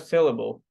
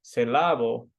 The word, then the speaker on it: syllable: Saying the word, for example, syllable with a second syllable stress rather than the first create confusion for the listener. So if instead of syllable, I said syllable, then I'm like, what, is there a different word?